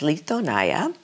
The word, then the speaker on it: Litonya: Our vineyard's named Litonaya. People sometimes have a hard time pronouncing it, but it's Litonaya.